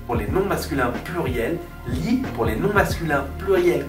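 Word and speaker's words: gli: soit par s Z vous avez li g L I qui se prononce li vous devez donc dire li amich li spectacoli ça ce sont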